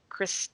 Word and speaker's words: Krys: And then there's Chris T. Havoc. It's Chris.T.Havoc, and Chris is spelled Krys.